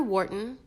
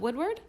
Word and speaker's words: Woodward: A Dr. Wharton, mistaken pronunciation of Woodward, and the AMA are in complete agreement."